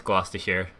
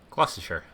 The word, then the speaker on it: Gloucestershire: I know it's Gloucestershire. Gloucestershire. I did pronounce the cheese double Gloucester instead of double Gloucester as a child.